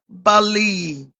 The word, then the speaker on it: Bali: Pronounced Bali.